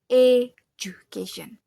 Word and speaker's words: education: not ju but jucation education. This mistakes happens because I think the D sound is disappear but it actually it is just blends and become J sound.